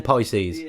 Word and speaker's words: Pisces: Pisces. You said pieces.